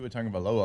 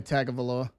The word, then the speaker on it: Tagovailoa: It took a lot of people to Tagovailoa a long time, and that one's not actually bad. No, once you say it. Yeah. I still say Tagovailoa.